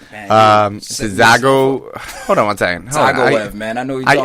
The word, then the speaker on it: Dzagoev: Dzagovic. That's not bad. Dzagov. No, that's terrible. Gov? Zagoev. Gav? Zagov? The D is silent. Zagov? Zagoev.